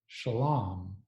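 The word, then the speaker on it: שלם: In Aramaic, the same word is pronounced shalam.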